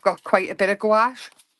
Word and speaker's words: gouache: Loads of people call it different things as well, but I think it's gouache. I think it sounds better. Some people call it gouache, but I don't think that's how you say it.